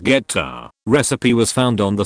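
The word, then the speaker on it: goetta: Grandma's homemade gota, pronounced geta, recipe was found on the side of the Quaker Oats box.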